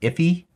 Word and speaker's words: IIFE: known as an iife sometimes i think it's pronounced iffy all right so keep